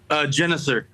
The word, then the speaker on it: Genuser: how's it pronounced? Genuser? Genuser. Genuser.